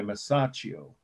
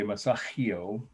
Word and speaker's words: Masaccio: called holy trinity by masaccio and that's m a s a c c i o some people say masahio but that's not how you pronounce it's how you spell it it's on your